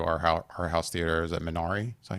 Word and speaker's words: Minari: Is it Minari?